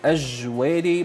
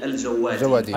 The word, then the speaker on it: الجوادي: العنف والاستغلال، الأستاذ أجويري. مساء الخير. مساء الخير أستاذ محمد، مساء الخير أستاذ عمار، شكرا لكم للاستضافة. أنا اسمي للتصحيح اسمي الجوادي.